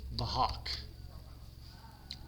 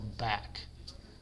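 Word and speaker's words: BHAK: So the correct order to apply transformations is bahawk bah hawk or back however you want to pronounce it b then h then a then k.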